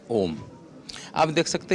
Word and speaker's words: ओम: ये ओ और यह डट जब हम उच्चारण करेंगे यह होता है ओम।